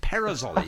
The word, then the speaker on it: Perazzoli: Perazzoli, yes, that's how you pronounce it. You can do it with a slight Italian accent if you wish, but I didn't want to do him any disservice, so I didn't.